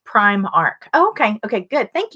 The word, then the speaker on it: Primark: Pinky Sand says it's pronounced Primark.